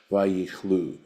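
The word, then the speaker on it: ויכלו: Umilashon vayichlu bechirik, and this would be then pronounced vayichlu, which means to come to an end, right?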